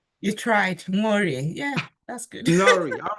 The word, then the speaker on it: Nworie: You tried, Nworie. Yeah, that's good. Nori. All right. I have to pronounce the N. I sometimes thought the N is silent. But anyway, Nori.